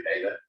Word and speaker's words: data: Sometimes I'll say data, sometimes I'll say data, because I guess the Latin pronunciation would technically be correct, but we're not Latins. Latin's been a dead language for a long time.